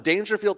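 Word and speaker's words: Daingerfield: Dangerfield, Texas, which is spelled D A I N G E R. Field.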